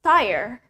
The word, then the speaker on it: tire: Ban in English is tire. Tire. Bukan tire atau teyere, tapi tire. Okay, they have the same pronunciation both in American and British accent.